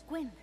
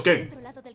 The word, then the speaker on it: Quen: Los Quen, que no los Ken.